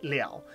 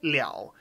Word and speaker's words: 了: is what happens there so when Lu is pronounced in its second pronunciation Nell it means to complete or finish off so if I say